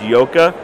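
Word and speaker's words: Joka: That's J-O-K-A, pronounced Yoka. That means serpent.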